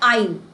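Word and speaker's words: aisle: ये जो पैसेज है जिसमें से निकल जाए इसको बोलते हैं आईल। आईल ए आई एस एल ई S silent है ना?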